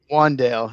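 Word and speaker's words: Wan'Dale: I believe, even though it's spelled W-A-N with the little apostrophe in there, I think it's still Wandale, right? Wandale Robinson. Wandale, yes.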